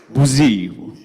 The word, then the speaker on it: bougie: It's bougie, the little French to it.